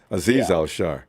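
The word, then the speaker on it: Azeez Al-Shaair: all right uh what's his name how you pronounce the name again azir are you all sharp the other linebacker oh yeah aziz aziz al shah yeah azizah shah yeah he he like javon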